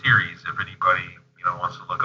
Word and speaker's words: Ceres: It's pronounced Ceres, if anybody wants to look up.